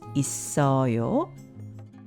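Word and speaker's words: 있어요: hanguk saram myeot myeong it a yo is pronounced is so yo.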